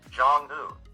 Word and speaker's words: Jong-un: among fail and Yet, Jong-un is really articulated as a two-syllable single word rhyming with Tongan, an individual from Tonga.